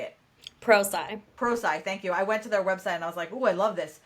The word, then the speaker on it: ProSci: Pro sci.